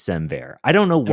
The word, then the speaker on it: SemVer: Semver. That makes Yeah. so much more sense than Semvar.